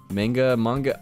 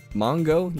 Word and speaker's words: manga: Mongo. You don't say mongo. It's mango. Manga. It is manga.